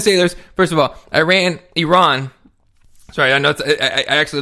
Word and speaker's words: Iran: of the ten sailors first of all Iran Iran sorry I know I actually learn how to